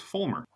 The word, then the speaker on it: Vollmer: life okay so howon is pronounced Fulmer with an F okay right fmer would